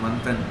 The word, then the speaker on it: Manthan: Manthan is saying, bro, it's not Madan, it is Manthan.